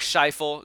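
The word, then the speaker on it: Scheifele: y'all say um under 2.5 and then Mark shifel that's also how you say his name is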